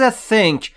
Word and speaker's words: think: TH رو وقتی میخواید تلفظ بکنید زبونتون پشت دندونهای بالاتون باشه و بگید سه یا مثلا بگید سرعی یا مثلا اینجوری think. و در مورد تلفظ I در اینجا که به صورت E میاد دقت بکنید که بین E و E باید تلفظ بشه. یعنی بشه think.